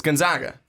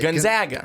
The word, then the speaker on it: Gonzaga: I think everyone just gets into it's Gonzaga. That's it. Gonzaga. Gonzaga. That's what I kept saying. It's Gonzaga. Yeah, you were not saying Gonzaga. You know what? You don't even know how you said it wrong. I couldn't think about the wrong way. The basic point is that we're saying it right, but let's dive into the conversation.